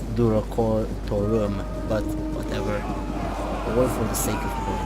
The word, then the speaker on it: Durocortorum: this region record though I know it's pronounced do record tour but away from the